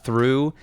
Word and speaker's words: through: of like how like through has the gh at the end but you don't pronounce the gh anymore yeah it might be